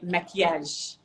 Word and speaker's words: maquillage: Oh, Say maquillage, maquillage. which is very Your French, but it's maquillage is maquillage. beautiful. I know, right? So now you know a few Your Arabic words, which maquillage is awesome.